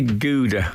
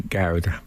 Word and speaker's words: Gouda: saying something no so they Americans say Goa apparently so we say gaer okay I went out